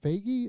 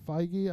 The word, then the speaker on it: Feige: in the news so kevin uh fagi is it peggy feige i've been saying it wrong for freaking years and then um so